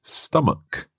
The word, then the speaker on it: stomach: of stomach mark well this word ends with ch and that's normally pronounced ch like church or chicken but here it's stomach a hard k sound that's right so watch